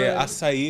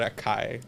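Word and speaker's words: açaí: They call it a kai. Yeah. They don't They don't know how to pronounce it. Exactly. I saw a video of Marazini saying it gringo are not they the name is not Akai. It's asai.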